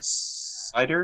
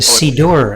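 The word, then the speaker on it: Siddur: the anthology a poet cider is that how you say it it's a sea door actually yes and a poet's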